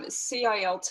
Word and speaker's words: CILT: Okay, it is CILT Australia, probably is the correct pronunciation. Yeah. I get corrected as well, don't worry, I think it's an Australian thing.